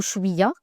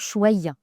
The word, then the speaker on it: chouïa: Donc enija ce sera plutôt chouya et dans d'autres pays arabophones on va dire par exemple chiaya. Donc il y aura une légère différence de de prononciation.